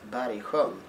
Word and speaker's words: Bergsjön: How do you pronounce that word correctly? Bergsjön.